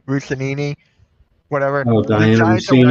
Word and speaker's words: Russini: I just saw this from I can't pronounce the name. Russinini, whatever.